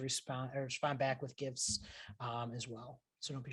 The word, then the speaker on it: GIF: be a png file gif i've used the hard g and uh or a